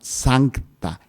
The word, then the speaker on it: sancta: A esto le vamos a llamar sancta, S-A-N-C-T-A, que es en latín, santa, o sea, la comunión en las cosas santas, la comunión en las cosas.